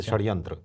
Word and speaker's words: षड्यंत्र: क्या बात है और षटकोण वाला जो स होता है सर उसका मिश्रित उच्चारण रहता है जैसे षड्यंत्र षड्यंत्र हां जैसे आधा श और आधा स हां हा इसको तालव्य शय